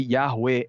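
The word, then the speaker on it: Yahweh: semíticas da mesma família então por isso que yahwe é de fato uma pronúncia eh aceita eh com um um consenso bastante grande entre os acadêmicos né É E eu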